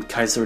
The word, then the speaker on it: Caesar: themselves something similar, from Caesar di Rome in the early Ottoman Empire, to the Kaiser of Germany, to being pronounced more like the word seizure in French and English, to a salad dressing in Tijuana.